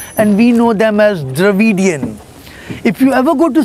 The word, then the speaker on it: Dravidian: Can you pronounce it? Dravidian.